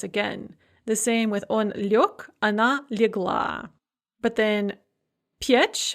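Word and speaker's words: лёг: Liech, to lie down, becomes liok, spelled liog.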